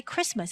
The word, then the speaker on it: Christmas: Of course, it's Christmas, but we don't pronounce the T inside of that. 그리스도의 날입니다. And instead we just say Christmas.